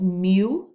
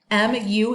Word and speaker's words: mu: call the mean we i call it mu okay m u is how you say it mu it is a greek letter and when we're talking